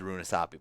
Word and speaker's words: Runasapi: Oh, there isn't actually an extra vowel in there. My bad. I've been pronouncing this wrong the entire time. It is Runasapi, but they typed it wrong on...